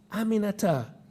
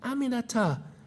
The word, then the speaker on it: Aminata: while after three tries she got it aminata four syllables it's really not that hard aminata i told her she